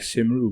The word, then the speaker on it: Cymru: Cymru, but it's spelled Cymru, and that's just Cymru means Wales. I think I have heard of Simru before as well. Simru. That's Simru.